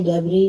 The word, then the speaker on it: debris: जैसे डेबरी, DEBRIS, मलबे को कहते हैं तो इसका प्रोनाउंसिएशन होता है डेबरी।